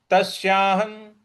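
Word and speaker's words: तस्याहं: अगला पद है तश्याहन तश्याहन देखिए त आधा स य पर आ की मात्रा और ह पर जो अनुस्वार है उसका उसके आगे न है तो उसका इसका उच्चारण भी न ही आएगा तो तस्याह तस्याहन इस प्रकार से बोलेंगे और तस्याहन और न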